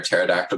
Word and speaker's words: pterodactyl: heard it, but what why can't you hear a pterodactyl go to the bathroom? I have never heard that. I don't know. Because the P is silent.